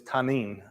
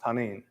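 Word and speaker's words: תנין: it is the act the Hebrew word is tanin is how it is pronounced tanin it means monstrous creature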